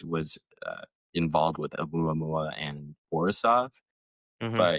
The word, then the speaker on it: Oumuamua: Oh, oddly enough, the first one was called, it looks like Omaha, but it's Uma. I can't even pronounce it. There's so many. Oumuamua? Yeah. But Muamua, there we go.